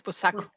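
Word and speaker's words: Buçaco: Am I pronouncing it correctly? Yes, it's correct. It's Busaco.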